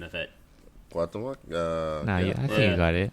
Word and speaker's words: Cuauhtémoc: It's Cuauhtémoc Blanco.